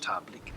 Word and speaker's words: Tabilk: Pronounced Tablik.